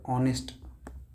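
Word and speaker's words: honest: जर ऑनेस्ट बघितलं तर ऑनेस्ट ऑनेस्ट असं असत ऑनेस्टी स्पेलिंग अशी आहे जरी असल पण उच्चार स्वरांपासून होतो सुरुवात त्यामुळे घेतो आपण ठीक आहे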